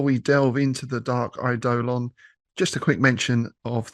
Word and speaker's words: Eidolon: So, yes, we're going to be looking at the Dark Eidolon today. And yes, we did have to Google how you pronounce that because you can pronounce it several different ways, but we're going with Eidolon.